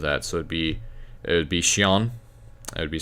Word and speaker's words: chiens: So if it's chien with an S, remember you don't pronounce the S at the end, so I'm going to talk about plurals later in another video.